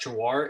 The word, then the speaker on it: Jhawar: For the judge's reference, that's Jawar. It's spelled Jhawar.